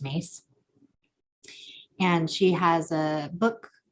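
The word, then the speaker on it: Myss: think listening to carolyn mace m-y-s-s but i think it's pronounced mace and she has a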